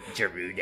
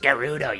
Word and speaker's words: Gerudo: lot of respect - Rudy oh it's pronounced Gerudo you stupid [ __